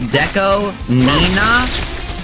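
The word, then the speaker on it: DECO*27: hard you learned that his name is pronounced Deco Nina and it rewired your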